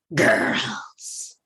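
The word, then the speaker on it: Grrrls: Salon gr r r r LS and it's pronounced girls cool and this ties into the statement I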